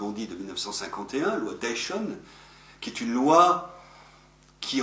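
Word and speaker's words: Deixonne: Loi Dayton, je me plais à prononcer Dayton et non pas Dexon, parce qu'il était occitan.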